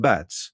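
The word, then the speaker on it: Batz: Its glyph is black bats pronounced bats which in May means monkey bats transforms the idea of love into its most open and generous form.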